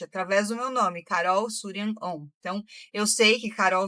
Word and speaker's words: Shuryan OM: É S-H-U fazendo Sul, R-Y-A-N, Surian.